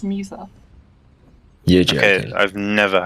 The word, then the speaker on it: Musa: Yeah, they're based off Winx Club characters, and that's how you pronounce Musa.